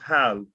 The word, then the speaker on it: hal: That's pronounced hal, and that means do, but only when you ask a question.